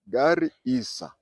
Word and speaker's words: Garissa: garisa garisa remember garissa it's two words gar and Isa Gary Isa and I said Gar